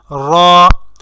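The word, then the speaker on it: ر: আমরা যখন র উচ্চারণ করব তখন আমাদের মুখের মধ্যে একটা ভাইব্রেশনের সৃষ্টি হবে। তো যখন ভাইব্রেশনের সৃষ্টি হবে তখনই আপনি বুঝবেন যে আপনার হরফ উচ্চারণটি শুদ্ধ হচ্ছে। আর র উচ্চারণ করার ক্ষেত্রে অবশ্যই রটি একটু মোটা হবে, মোটা করে উচ্চারণ করতে হবে।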